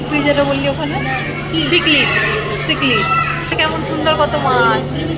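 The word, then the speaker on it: cichlid: এটা উচ্চারণটা বল। ওই সিলিড, তুই যেটা বললি ওখানে সিকলিড, সিকলিড কেমন সুন্দর কত মাছ।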